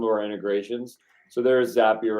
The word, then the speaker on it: Zapier: Yeah, Zapier rhymes with happier.